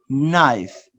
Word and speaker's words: knife: one letter the letter k is silent in a few words no knee knife so you don't pronounce the letter k let's fast to the